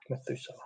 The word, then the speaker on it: Methuselah: Methuselah.